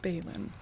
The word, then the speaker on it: Balin: B A L I N is Balon.